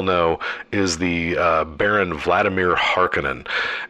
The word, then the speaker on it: Harkonnen: So the villain in this movie, as we well know, is the Baron Vladimir Harkonnen, and some pronounce it Harkonnen. I think that either is correct, so don't let pedants